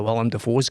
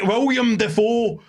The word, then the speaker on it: Willem Dafoe: You can't say William Dafoe as your fucking opening gambit and then every other mention of fucking Willem Dafoe you say it properly.